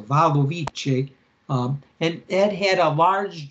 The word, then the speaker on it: Wadowice: in the city of Wadowice, I guess you say that. The W in Polish, as far as I understand, is pronounced as a V. So Wadowice, and it had a large Jewish population.